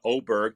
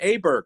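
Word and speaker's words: Åberg: name to O, or does he change his pronunciation to Aberg? Because you can't have both. I don't care where he's from. You can't call him Oberg and have an A on the word.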